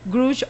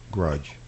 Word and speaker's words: grouch: En inglés correcto es grouch. Ok. Grouch. Ok. Pero pues aquí le dicen grudge.